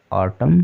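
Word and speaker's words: autumn: भी N silent है क्योंकि वर्ड के अंत में एम के बाद आया हुआ है इसलिए एन साइलेंट है ठीक है तो डैम कॉलम ऑटम सोलम इसको इस तरह से हम पढ़ेंगे चलिए आज के लिए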